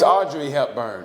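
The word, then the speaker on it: Audrey Hepburn: you not saying it you said Audrey it's Audrey hurn okay a u d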